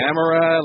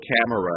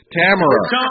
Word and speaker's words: Tamara: Tamara like camera. It rhymes with camera. Oh, camera. This is your friend Melrose, Larry Green. I want to tell you, Camera. Tamara, not camera, Tamara.